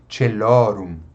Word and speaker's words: Caelorum: Outra palavra com 3 sílabas, ó, não tem acentuação, então só pode ser celorum, celorum.